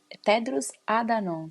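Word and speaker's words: Tedros Adhanom: O Tedros, Tedros Adanon, se eu não me engano, é assim que se pronuncia o nome dele.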